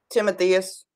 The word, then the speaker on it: Timotheus: mathias or how did you say it renee timotheus timotheus okay that sounds better uh so paul and timotheus uh paul writes a greeting uh for both of them speaking for him and timotheus um one of the things that uh this